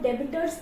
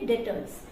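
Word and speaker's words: debtors: इसको हम लोग डेटर्स प्रोनाउंस करेंगे। बी जो है वो साइलेंट होगा, इसको डेबिटर्स प्रोनाउंस नहीं करेंगे। क्या प्रोनाउंस करेंगे? डेटर्स।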